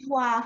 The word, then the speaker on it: Ivoire: How do you pronounce the name? Ivoire Foundation.